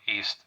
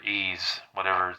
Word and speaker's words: Ys: play any of the East games. YS, that's what's spelled Y and S. You get the point. But it's pronounced East or Ease, however you pronounce the name of that game.